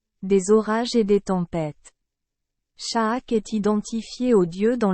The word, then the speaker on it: Chaac: Sha'ak, prononcé Shak, était très respecté par les Mayas.